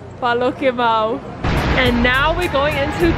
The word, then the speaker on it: Paloquemao: Paloquemao. Paloquemao.